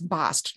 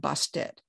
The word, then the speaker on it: Bast: Same way, like it's bast, not bastet. That T is just there as a marker.